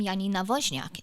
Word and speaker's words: Janina Wozniak: So I actually do some extra advertising to people of the Polish nationality because they'll see my name, Janina Wozniak, is how you pronounce my name in Polish.